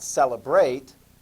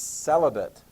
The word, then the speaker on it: celibate: the word for that it's not celebrate it's celibate or celibacy i'll shall i spell